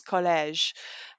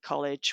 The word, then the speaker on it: collège: of how they might pronounce collège, to make sure that they don't say college when it comes to that important read aloud task.